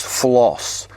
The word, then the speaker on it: flos: And the last part of the name of cauliflower is flos. I think that's how they say it, like floss your teeth.